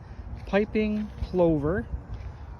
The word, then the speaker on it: piping plover: So this is the area that is protected for a bird called, I believe it's pronounced piping plover. Plover? Lover with a P on the front.